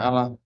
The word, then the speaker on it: Alla: juga menggunakan kata Allah tulisannya a l l a saya bacanya Allah karena di ini enggak pakai tasdid i ya enggak ada tasdidnya ya enggak ada tasdidnya jadi bacanya Allah mereka menggunakan kata Allah